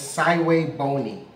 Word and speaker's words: SVBONY: the instructions and yes it's pronounced as saway bony that's how it's pronounced so it took a